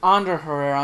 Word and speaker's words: Ander Herrera: And it's actually Ander Herrera. I'm sorry, Ander. I probably still mispronounce his last name because I'm terrible at pronouncing.